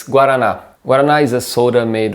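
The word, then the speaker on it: guaraná: have a chance give it a go the pronunciation is guarana to finish the video let's talk about two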